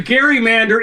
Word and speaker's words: gerrymander: So, well, the gerrymander is a problem, and it's Gary with a hard G. It's named for Elbridge Gerry of Massachusetts.